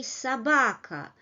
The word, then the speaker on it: собака: Again, don't forget that unstressed syllables lose their quality. So we write O, but we say собака.